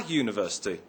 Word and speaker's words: university: We say a university, not an university. The word university begins with a u but is pronounced with a y sound at the beginning.